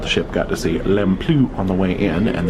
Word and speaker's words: Lamplugh: The Rangers have come back on to let us know that we are approaching Lamplugh Glacier. That is the approved pronunciation, or Lamplugh the Blue.